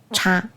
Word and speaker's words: 差: 段话当中应该念成差。差有很多的意思哈，有不同之点的意思，就差别啊、差距啊，都是差。